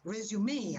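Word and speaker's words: résumé: Resume, actually. Resume. You pronounce it resume, but it's a kind of abbreviated CV.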